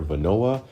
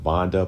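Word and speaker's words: Vonoa: come from the manufacturer Venoa. I think in the past I called them Vonda, but it's spelled V O N O A.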